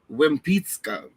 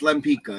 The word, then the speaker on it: Lempicka: I'm Polish enough that I'm gonna say it's really supposed to be pronounced like Wimpicka, right? But it's Lempicka.